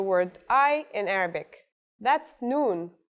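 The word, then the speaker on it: ن: That's noon. The noon is pronounced just like the English N.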